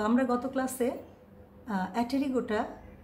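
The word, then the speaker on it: Aptera: বিজ্ঞানী লিনিয়াস 1758 সালে এই বর্গের কীটপতঙ্গের অ্যাপটেরা, বানানে অ্যাপটেরা বাট উচ্চারণে কিন্তু অ্যাটেরা, অর্থাৎ অপক্ষল পতঙ্গ হিসাবে এটাকে চিহ্নিত করেছেন।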